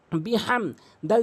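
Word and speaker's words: بِحَمْدِ: অনেকেই যে ভুলটি করে সেটা হচ্ছে বিহ বলে, বা বিহ বলতে হবে, কারণ হাটি হলকের মাঝখান থেকে উচ্চারণ হয়।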